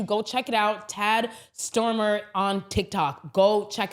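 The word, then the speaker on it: Stoermer: There is an academic, his name is Tad Stormer. It's spelled Tad and Stormer's S T O E R M er.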